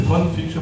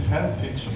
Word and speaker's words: fanfiction: vejo em alguns alunos, eu disse fanfiction, o pessoal tirou o maior sarro. Fã no sentido de divertimento, até eu me corrigi, eu contei para o Pedro, né, que é fanfiction, daí agora eu pronuncio corretamente fanfiction.